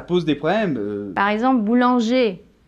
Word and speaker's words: boulanger: des problèmes par exemple boulanger là si on prononce le r ça devient le féminin boulangère pareil que ouvriers ouvrière